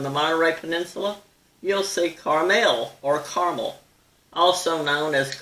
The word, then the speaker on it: Carmel: back in the 80s this town is called Carmel or Carmel but not caramel the pronunciations of these